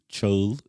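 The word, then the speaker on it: Çağıl: So my name is in full is Cagil. Cagil. Cagil. Cagil has three letters that don't exist in the English language. First is Che, but you can represent it with C and H.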